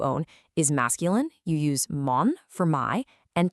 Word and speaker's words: mon: Mon and ton are nasal. Your mouth should be kind of closed and rounded, mon, ton.